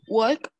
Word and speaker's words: walk: Can you walk? ¿Cómo? Can you walk? Walk. Walk. Sin la L.